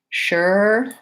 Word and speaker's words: sure: So the word sure has the SH sound, even though we spell it with the letter S. And then again, there's just my sound. So I could say her, sure, were.